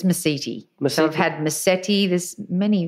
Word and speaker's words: Mesiti: hit record I just asked you how to pronounce your name and I thought it was my city mm-hmm you said there's a few ways that